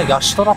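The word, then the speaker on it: ヤ・シュトラ: なんだやっぱ最初こういうなんか表記見るとやシトラとかなんかそういう感じで思うけど意外と発音するとみんなヤシトラっていうからヤトが名前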